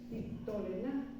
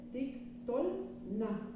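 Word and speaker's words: תִּקְטֹלְנָה: Entonces, si sobre la vocal larga recae el acento, el Sheba que sigue no se pronuncia. Entonces, por eso, aquí se lee tik, tol, y este Sheba no se pronuncia. No se dice tik, tolena, se dice tik, tol, na.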